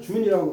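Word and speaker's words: 尊: 존능자 능를 존중한 다음에 존 근데 준이라고 근데 요거 글자가 술술 술술동이라는 뜻으로 쓰일 적에는 준이라고 발음을 해요. 그러니까 결론적으로 말씀드려서요 글자 하나 가지고 존자로도 쓰고 준으로도 썼어요.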